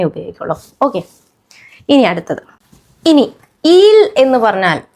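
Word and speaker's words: ils: ജൻഡറിൽ ദേ എന്ന് പറയാൻ ഈൽ എന്നാണ് എന്നുള്ള വാക്കാണ് അത് വായിക്കുന്നത് സിംഗുലർ ആണെങ്കിൽ ഹി എന്നുള്ളതിന്റെ അതേ ഉച്ചാരണം തന്നെയാണ് ദേ എന്നുള്ളതിനും വരുക പക്ഷേ എസ് ലാസ്റ്റിൽ ഉണ്ട് അത് സൈലന്റ് ആയിരിക്കും അപ് ഹി എന്ന് പറയാനും ഈൽ എന്ന് തന്നെയാണ് വായിക്കുക ഇതും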